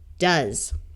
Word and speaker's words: does: And here OE will have a short U sound, and the S will have its second sound of Z, does.